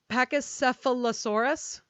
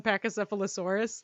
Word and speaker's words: Pachycephalosaurus: many a thing, but I don't think this is it. The first thing that you Google when you click on Pachycephalosaurus, like the title, is pronunciation. Yeah. Oh my god, this is patchy and I hate it.